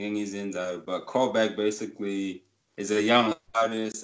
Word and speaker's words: Cole-Behk: but what what basically which is this callback is c-o-l-e that is the call and the new back is b-e-h-k so how i've always